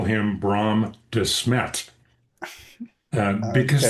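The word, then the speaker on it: Desmet: I call him Brahm Dismmet because that's the Belgian pronunciation of the name right he he is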